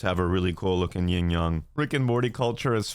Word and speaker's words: yin yang: Yin Yang. Like, I know it's pronounced Yin Yang, but I still say Yin Yang.